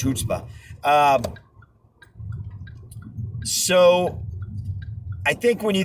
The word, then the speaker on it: chutzpah: really the force and the influence and the chutzpah. Is that the right way to pronounce that word? Hebrew word, chutzpah? I think it's chutzpah.